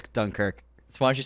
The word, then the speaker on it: Dunkirk: like I said, why do you say it like that? Dunkirk. That's how he says it with the Irish accent. It's because I just watched a bunch of Cillian interviews. He says Dunkirk.